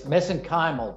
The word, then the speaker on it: mesenchymal: is and how Cynata's mesenchymal stem cells are unique? Now, I hope I pronounced that correctly. It's mesenchymal, but that's fine.